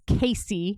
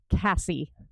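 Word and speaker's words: Casie: tries to autocorrect it my name is Casey not Cassie it's spelled c a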